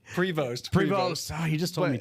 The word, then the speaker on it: Prevost: say it again so we have it right Prevost pre he just told me too pre you know what however you pronounce it if you got uh you've been